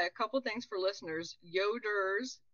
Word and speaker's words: Yoder: couple things for listeners yoders y o d r correct yes not Yoda don't get too excited